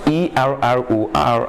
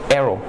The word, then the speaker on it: error: is an error it pronounced e-r-r-o-r as error and not arrow okay while e-r-a is